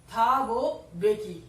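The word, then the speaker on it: Thabo Mbeki: थाबो बेकी, ये जो है थाबो बेकी, इसमें एम साइलेंट है।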